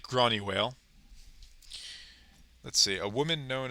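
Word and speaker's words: Gráinne Mhaol: Uh, I'm bad at Celtic pronunciation, but I've listened to enough of the Dubliners to know that that's pronounced something like Gronnywale.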